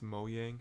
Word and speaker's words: Mojang: give me the money it's mo yang actually it's pronounced if the